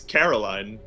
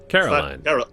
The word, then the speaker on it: Caroline: It's Caroline. Caroline. It's like you're putting emphasis on like the wrong part of the word for an English speaker. Sweet Caroline?